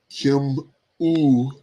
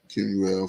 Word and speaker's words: Kemuel: Yeah, let's see how they pronounce that one. Kemuel.